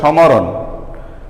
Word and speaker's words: স্মরণ: দেখো, আমি উদাহরণে লিখছি স্মরণ। আচ্ছা, স্মরণ, শয়ে মফলা রন। এখানে মফলার উচ্চারণ করলে হতো সমরণ। আসলে কি এটা উচ্চারণ সমরণ? অবশ্যই নয়, এর উচ্চারণ হবে স্মরণ।